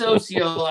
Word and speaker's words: Osceola: to this, comment and tell us if it's Osceola or Osceola. No, it's Osceola. I remember because they told me at the contest last year because I was saying it wrong at awards, and I said that same thing. I'm like, well, OCO is hello in Cherokee.